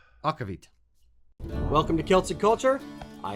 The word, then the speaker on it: aquavit: we try op Anderson's aquavit no that's not how you say it okavit welcome to Celtic culture